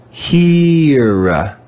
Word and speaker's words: here: read this word here here hear you can hear the long e sound at the beginning of the word and no sound from